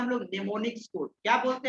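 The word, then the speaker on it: mnemonics: नेमोनिक्स का spelling होता है MNE, नेमोनिक्स, MO, है ना, ठीक है, यानी एम साइलेंट होता है।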